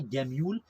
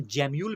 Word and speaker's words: gemmule: यहाँ पर देखो एक हमारे पास वर्ड आ रहा है गैम्यूल, या इसको हम जैम्यूल भी कहते हैं, इसको आप किसी भी तरीके से प्रोनाउंस कर सकते हैं, गैम्यूल कहो या जैम्यूल कहो, ये काफी इंपॉर्टेंट है।